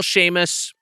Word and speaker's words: Seamus: Sheamus.